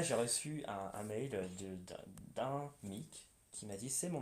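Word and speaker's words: Meak: Donc aujourd'hui ça s'écrit M-E-A-K. D'accord. Ça se prononce toujours Mick, mais littéralement ça ne veut plus rien dire, je crois.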